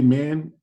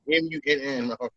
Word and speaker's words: Munn: Don't disrespect the great Olivia Munn by saying her last name wrong. M-U-N-N. Munn.